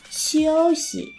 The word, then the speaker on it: 休息: Chiêu thiên, 秋天全套全套白酒白酒休息休息 Thì nhớ là cái từ si cuối cùng này nó mang thanh nhẹ nên mình sẽ không đọc là siêu si hay siêu si. Đọc lơi xuống nhá. Siêu si.